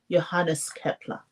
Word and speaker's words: Johannes Kepler: Johannes, his name is pronounced Johannes Kepler.